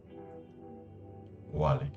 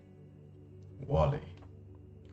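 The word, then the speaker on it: Wali: saints names anyone know a muslim saint name wally oh that's nice we're gonna call him wally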